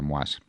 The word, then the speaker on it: Moïse: Manifestaciones en Haití contra el presidente Jovenel Moïse, se escribe así, suponemos que sea Moise, en francés.